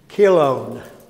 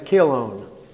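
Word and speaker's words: Chilion: way you pronounce it the CH is like a k sound in English is kilone his name is kilone it's Malone and kilone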